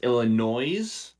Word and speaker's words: Illinois: It's actually pronounced Illinois.